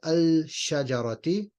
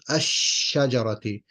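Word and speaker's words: الشجرة: You won't say al-shajarati because the rules of tajweed dictate whenever an al is followed by a sheen, then you don't pronounce the al. You don't pronounce the lam. It just becomes ash-shajarati.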